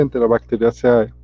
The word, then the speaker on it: Enterobacteriaceae: Ok, se pronuncia Enterobacteriaceae.